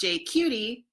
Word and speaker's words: JQT: and I help run JQT Vancouver. Pronounced "J-cutie", we are a group